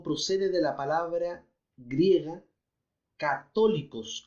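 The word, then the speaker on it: καθολικός: de la palabra griega católicos con ka y acento en la última y católicos es con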